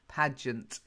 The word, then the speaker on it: pageant: Well, I can understand why you got that at the beginning, because it looks like page, but it's not. It is pageant.